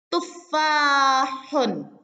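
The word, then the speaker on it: تُفَّاحٌ: Nah, kemudian tufahun. Tufahun. Tufahun. Nah, jadi di sini untuk tufahun jangan lupa ha yang di sini ini adalah ha pedas ya, haknya. Nah, lebih kental dalam pengucapannya tufahun gitu ya.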